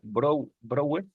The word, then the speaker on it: Breuer: Y por supuesto, hay quien lo pronuncia Brouwer. Ahorita lo voy a latinizar, pronunciarlo como se leería en español, Breuer.